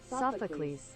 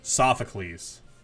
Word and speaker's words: Sophocles: bit here I'm actually I cannot figure out how to pronounce this name I've seen this name so many times too um in like Pokemon Masters and just so many different things um how to pronounce and I know it's like based off of a uh like an an old like Greek here we go here